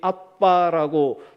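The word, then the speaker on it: אבא: 하나님을 아버지라고 부르는데 특별히 아빠라고 부르게 된다는 것입니다. 아빠라는 단어, 옛날에는 이제 아바라고 했었는데 발음 그대로 아빠가 더 가깝죠.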